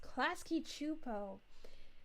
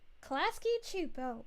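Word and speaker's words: Klasky Csupo: Oh, it's pronounced Klasky Chupo. Klasky Chupo. Oh, thank you so much. I was saying it wrong the entire time.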